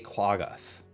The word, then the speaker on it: Quaggoth: Just make sure that I am pronouncing the name correctly of it. It is a Quaggoth.